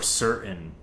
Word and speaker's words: certain: it off is that we tend to pronounce anything with a T-A-I-N in its spelling, like certain or mountain. Like we just kind of cut that out. The way I pronounce it is mountain or certain.